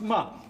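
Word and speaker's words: Mapledurham: name's Mom lester Mom it's spelled Maple Darham pronounced mom he's a fellow hunter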